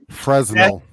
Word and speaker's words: Fresnel: Fresnel. The S is silent.